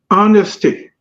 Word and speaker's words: honesty: And then the other one is honesty, HONESTY, honesty. It's not the ish is not pronounced, not home. It's honesty, honesty.